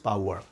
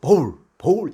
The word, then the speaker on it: bowel: 그런데 이 loose bowel이 아니고 loose bowl 이렇게 발음한 경우가 많아요. 바로 이 bowl은 이 종지기 그릇을 말하거든요. 그래서 전혀 다른 의미가 되는 것이죠.